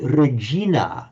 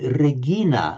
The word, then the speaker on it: regina: But regina, you see, in Latin, classical Latin was very likely to have been regina, not regina, because the g to j was a later phenomenon.